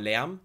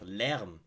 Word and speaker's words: Lärm: Ooh, it was good, and I believe Lärm. Lärm is a hard word to pronounce, Lärm, because it has like an ä. This letter, ä, doesn't exist even in the English language, so it's hard to pronounce.